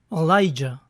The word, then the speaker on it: Elijah: Elías es Elijah, pero también es popularmente pronunciado con una A inicial débil. Elijah.